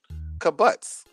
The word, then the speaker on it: kibbutz: Kibbutz. It's kibbutz. How you spell that?